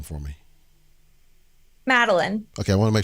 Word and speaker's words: Madeline: So Madeline, I want to kind of break down a couple of things that maybe you, by the way, I want you to say your first name for me. Madeline.